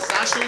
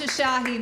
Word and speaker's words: Shoshahi: What is it? Sashi? Sushi? It's Shoshahi. My dad can't even pronounce it, so it's fine, guys.